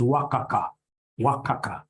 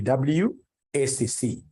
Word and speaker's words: WACC: companies you'll get somebody instead of pronouncing this thing professionally as WACC you'll get somebody calling it waka waka no no no that's very unprofessional it's supposed to be wcc is supposed to be